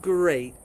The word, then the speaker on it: great: But logically, most English words with EA are an E sound. So researching it, I discovered that there are really only three words that have the same pronunciation: steak, break, and great. Those are all written with EA but have an A sound to them.